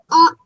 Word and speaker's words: honest: Honest.